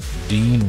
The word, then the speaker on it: Dean: Oh, you know, Dean rhymes with Green.